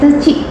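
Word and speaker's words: deqi: Ya, tulisannya deki gitu. Bacanya teci.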